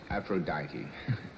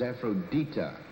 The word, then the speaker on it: Aphrodite: They'd say, oh, great goddess Aphrodite. Or worse still, Aphrodite. Nothing had happened. Why? Because it's Aphrodita. Should a deity listen when you can't even pronounce its name?